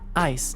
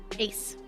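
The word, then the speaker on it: Ais: You're Ice. Is that the correct pronunciation? Ace. All right. You're Ice, aren't you? Depends on. It sounds like Ace.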